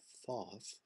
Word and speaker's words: Thoth: the tot tarot and it is pronounced taut that god is taught um i know it sounds a little sillier than thoth just has a nice